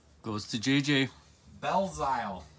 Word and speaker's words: Belzile: Montreal Canadian, Alex Belzal. Bazil? I don't know. He's like, we sell all his cards. I should know how to pronounce his name. Goes to JJ. Belzile. It's almost like Belil.